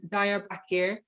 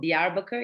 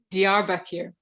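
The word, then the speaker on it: Diyarbakır: that properly i know just to kind of like clarify it's called the arbucker it's the south eastern region in turkey dr back here thank you i should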